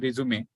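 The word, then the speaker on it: résumé: so marriage difference and resume is pronounced as resume a French word word to summarize so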